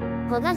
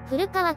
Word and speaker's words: 古河: はここが旧古河庭園古賀じゃなくて古川と読むのねなんで q 7